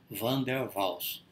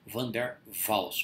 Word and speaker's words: Van der Waals: Então vamos falar daqui para frente, Van der Waals, com V, que é o holandês, é muito parecido com o alemão, né? Van der Waals, na verdade, a pronúncia correta, em holandês, tá?